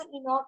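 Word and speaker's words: Enoch: लफ्ज इस्तेमाल किया है ये बाइबल में इसको प्रोनाउंस किया जाता है हजरत सलाम को इनक में सॉरी बाइबल में इनक कहा जाता है ठीक है और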